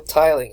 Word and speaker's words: tiling: The term may derive from the act of, so I pronounced that wrong. I think I said tilling. It's still tiling.